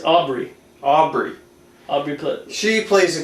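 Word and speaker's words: Aubrey: forget uh rv for how do you say rv rv plaza or is it abe it's aubry aubry aubry she plays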